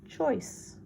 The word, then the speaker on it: choice: It has a C followed by an E, so it's a soft C. We know the CH says ch. We know OI says oi. The word is choice.